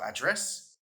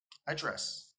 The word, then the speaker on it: address: The noun address is the place where you live, and the verb address is to speak to someone. So address, address.